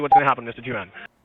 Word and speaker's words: Juan: Juan. Мистер Джоан. Ну да, это то, как американцы произносят имя Хуан.